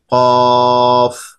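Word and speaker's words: كاف: তোমরা চিত্রে দেখতে পাচ্ছ কিভাবে একটি গোল মাথার উপরে দুইটি ফোঁটা বা নোক্তা দেওয়া হয়েছে, এটা হচ্ছে কফ। কফ হরফ উচ্চারণের স্থান হচ্ছে জিহ্বার গোড়া ও সেই বরাবর উপরের তালুর সাথে লাগিয়ে বড় আওয়াজে উচ্চারিত হবে, এটা কলকলায় পড়তে হবে।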